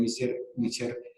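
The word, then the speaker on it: Miescher: las bases que caracterizan ese ácido que se pronuncia bien, Mischer, un alemán lo identifica en la segunda mitad del siglo XIX.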